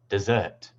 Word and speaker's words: dessert: For example, in this word, the primary stress is on the second syllable. Dessert.